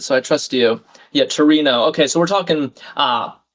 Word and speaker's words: Torino: I've heard of Turin. the the city in um Italy of course, but Torino I guess is how you say it in Italian.